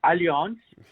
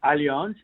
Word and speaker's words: Allianz: The pronunciation is Allianz, and it ends with a Z. Right. Okay, so it's Allianz, and it's a German